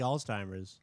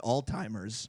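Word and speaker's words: Alzheimer's: though how old how long she had like altimers uh altimers whatever okay that's in James defense I've I've met a lot of people who can't pronounce people pronounce it oldtimers yeah Old-Timers too I don't know why people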